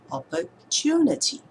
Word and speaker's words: opportunity: Now we don't say that naturally at the same stress level. We don't say it in a very flat way. So if you emphasize the syllable that we're supposed to stress, it will be opportunity. Right? We say opportunity, the third syllable.